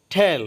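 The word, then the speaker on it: tell: ঠেল অর্থ বলা, এটা টেল না হয়ে হবে ঠেল, টি এর উচ্চারণ ঠ হবে, ঠেল অর্থ বলা।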